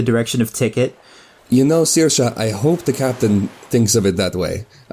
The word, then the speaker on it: Saoirse: You know, Saoirse, I hope the captain thinks of it that way.